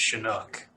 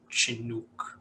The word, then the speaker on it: Chinook: I personally would say it's Chinook, like with an SH instead of a Chinook or something like that.